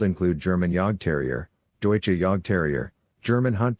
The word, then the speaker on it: Jagdterrier: the name in fact yogg terrier which is actually pronounced yak terrier means huntmaster these breeders